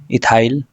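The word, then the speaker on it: ethyl: एथिल नहीं इथाइल पढ़ते हैं इसको हम लोग इंग्लिश में डाईथिनो मेथिलोनेन।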